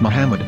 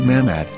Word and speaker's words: מחמד: prophet, or as Mamad with no A after the H. According to Ben Yehuda's Hebrew-English dictionary, it is correctly pronounced as Muhammad, not Mamad.